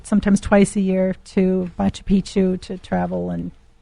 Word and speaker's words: Machu Picchu: Before you go, Christy Rounds, I've got to ask you about how do you pronounce Machu Picchu? Machu Picchu.